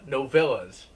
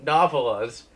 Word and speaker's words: novellas: to read all the no villas I actually had a friend correct me on the pronunciation of that I kept calling him novel us and then I accidentally